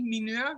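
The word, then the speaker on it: Mineur: question from miner i think sorry if i mispronounce your name hi i'm uh minour that's the dutch way of pronouncing it the french way also you're happy to pronounce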